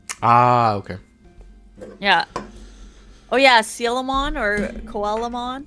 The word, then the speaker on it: Coelamon: okay yeah oh yeah seal them on or coelamon coelamon I think that one's supposed to be pronounced as seal right like cuz it's a seal sh yeah and then